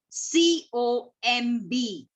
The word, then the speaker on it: comb: So B you can just underline, and that we pronounce as comb. We don't say comb. Okay, we say comb.